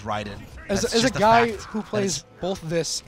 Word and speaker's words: Raiden: yeah know say it's you can say Raiden and this is the thing is that like that is not the correct way to say that word like r a i d n is Ryden a who plays both